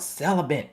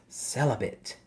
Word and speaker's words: celibate: don't even know what celibate is because you're saying it wrong it's celibate and that is a priest